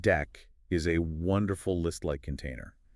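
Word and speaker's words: deque: Let's talk about Dick. The dick pronounced deck is a wonderful list-like container.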